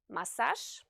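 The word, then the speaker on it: массаж: The letter j, which is a voiced consonant, is pronounced sh if it's the last letter of a word. Like in the words massage, Paris, and garage, for example.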